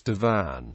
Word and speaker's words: divan: century, which helps establish the original Middle Persian form was divan, not Devon, despite later legends that traced the origin of the word to the latter form. The variant pronunciation Devon, however, did exist, and is the form surviving to this day in Tajiki Persian.